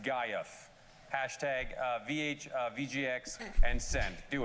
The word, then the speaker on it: GIF: pronounced GIF or GIF, Yeah. and tweet it to us. By the way, you're both wrong. It's pronounced Gaiuf.